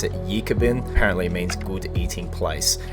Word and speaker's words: Ekibin: is named ebin which comes from an Aboriginal word you pronounce it yabin apparently means good eating